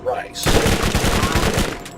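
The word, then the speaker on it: Rhys: I'm pretty sure that name is actually pronounced Rice. The original version of the name Reese is Welsh and is spelled R-H-Y-S, like Reese from Tales from the Borderland.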